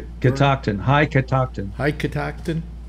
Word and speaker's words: Catoctin: go thank you how's that pronounced uh that pronounced catoctin high catoxin high catoxin sounds like some kind